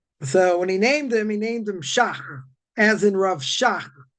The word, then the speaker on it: Shach: So he told him, so when he named him Shach, as in Rav Shach. But some people have problems pronouncing the ha, right? The cha sound. So he can never pronounce it, he just said Shah.